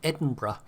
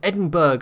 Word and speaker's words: Edinburgh: So, the Leander class, and then we're going to have the Town class, aka the Edinburgh, or the Edinburgh, as so many people mispronounce it, which, I don't know,